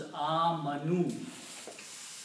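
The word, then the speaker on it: آمَنُوا: And if we make the plural of this, we simply add a vav with an alif which is not recited. So the word is pronounced as amanu.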